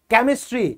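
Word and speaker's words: chemistry: है क यहां पर क से जो शब्द शुरू होते हैं वो बोले जाएंगे चा लेकिन उसमें ये जो है ना केमिस्ट केमिस्ट केमिस्ट्री ये एक क्षेत्र है यह आप लोगों को याद रखना पड़ेगा ये स्टार बना दो ये एक्सेप्शन है वजह की रूल में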